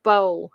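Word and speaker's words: Bole: catawba river waterway okay starting in 1750 edward bowle last name b-o-l-e robert c ford robert mccaffen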